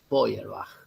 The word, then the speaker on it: Feuerbach: cual él critica y se escribe como es alemán no se escribe así como yo lo estoy pronunciando se escribe de huerva es decir efe y de larga a c h se diría nosotros diríamos en castellano de diamond feuer bach pero el alemán se dice boyer baja entonces en unas algo